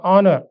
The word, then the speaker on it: honor: In the same way ho N O U R honor. So we can consider article an because H is silent.